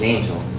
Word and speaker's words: Angell: My family name is Angel. That's how pronounced.